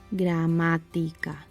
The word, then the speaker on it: gramática: If it falls on the third to last syllable, the esdrújula column, this is easier, the word will always take a tilde in that syllable. Gramática, gramática. And lastly, if it falls